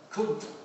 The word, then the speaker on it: Kant: I didn't want to tell everyone, but Kant's name in German is pronounced Kunt.